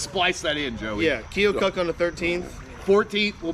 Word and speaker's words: Keokuk: Yeah, that's how you say it. I'm I worried. said, that's I'm actually worried if I'm saying it right. No, you're right. I met somebody from that area, and I said Keokuk, and they were like, "Nope." Yeah. Yeah, Keokuk.